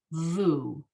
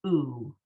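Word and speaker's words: וּ: So those together, it has to be as opposed to, so I don't think there's a case, Audrey, where the sharuk at the beginning is pronounced vu. It's always oo.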